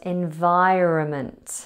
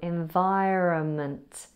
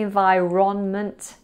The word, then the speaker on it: environment: Another word mispronounced was environment. I can't really talk in this environment. It has a silent N just after the O. Environment.